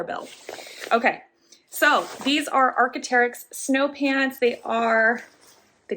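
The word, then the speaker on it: Arc'teryx: wool ibex and the last one would be archeterics am i pronouncing that correctly archeterics that's what the label looks like if you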